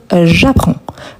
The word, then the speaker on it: j'apprends: Donc ici, très important car il faut ajouter le S à la fin. On ne le prononce pas, on ne prononce pas non plus le D, mais on doit les écrire. Donc, j'apprends.